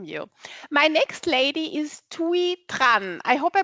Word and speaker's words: Thuy Tran: My next lady is Thuy Tran. I hope I pronounce this correctly.